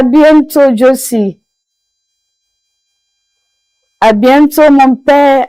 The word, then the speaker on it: à bientôt: As you can see on the board, it is pronounced in French as à bientôt.